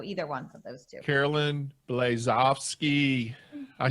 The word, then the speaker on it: Caroline Blazovsky: Caroline Blazovsky.